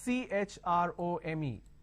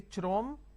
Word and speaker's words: Chrome: Now here, this is CHROME. Can I say Chrome, like Google Chrome? No. The pronunciation is Google Chrome.